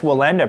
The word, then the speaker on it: Wallenda: with the ax and it has more of like a V invoked in the beginning of it But I I've never heard it Pronounced like that.